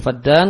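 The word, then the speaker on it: فدان: Ya, bacanya fadan kalau di kamus artinya kadar satu tanah, tanah pertanian yang berbeda-beda ukurannya antara satu negeri Arab dengan negeri Arab yang lain.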